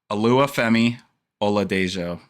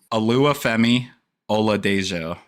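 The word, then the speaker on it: Oluwafemi Oladejo: Alua Femi Ola Dejo.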